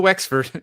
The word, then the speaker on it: Wexford: Do you want to go back and put an X into Wexford, Kevin, and not just a WS? Westford.